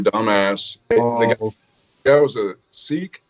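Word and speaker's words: Sikh: ass that was a seek is that how they pronounce it or say yes because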